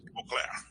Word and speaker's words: Beauclair: É Beclair, é isso? Beclair, nome difícil, hein? Mas você... Beauclair. Oi? É francês, Beauclair.